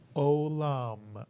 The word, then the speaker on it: olam: And we pronounce this two-syllable word as O is the first syllable, Lam is the second syllable. Put the word Olam, Mitsuyan.